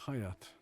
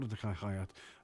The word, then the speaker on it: Hayat: you don't remember me my name's hayat haat I wanted to offer my condolences hayat means life in Turkish but it's not spelled like like that thank you please forgive